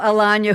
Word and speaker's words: Alagna: Alagna, who rhymes with lasagna.